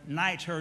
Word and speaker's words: nitre: And then it says vinegar on nitre. And nitro or niter, depending upon which location you're in terms of how they pronounce it, basically is soda.